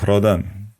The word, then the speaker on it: Rhodan: The correct pronunciation of “rh” is “hr” in Ancient Greek. Therefore the river’s name was Hrodan.